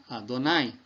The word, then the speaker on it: Adonai: Eles colocaram, aqui no lugar do Adoni, colocaram o outro sinal do A, que é o Kametz, ok? Então, virou Adonai. Olha aqui, ó, como é que se escreve Adonai em hebraico. Tá vendo? Aleph, aí depois o Dalet, depois o Nun, depois o Yud. Do mesmo jeito que se escreve Adoni. Só que com o A aqui, você vai ler Adonai.